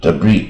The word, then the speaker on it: debris: 、碎片啊，debris 啊。重点是 s 不发音啊，debt 啊，这